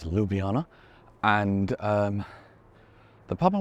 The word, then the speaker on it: Ljubljana: here to Ljubljana yes I was pronouncing it wrong originally it's Ljubljana and um the pub